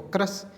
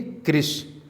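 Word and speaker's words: कृश: लोग क्रश हैं, तो क्रश इस तरीके से, ये क्रश जैसा प्रोनाउंसिएशन है, उसे हमें सही क्या पढ़ना है? लिखेंगे कृष।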